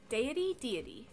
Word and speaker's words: deity: Also, which one has our deity? D-D-D-D-D-D. Deity is how you say it.